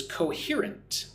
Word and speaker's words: coherent: The next vocabulary word for today is coherent. Coherent. Put the stress on the second syllable. Here.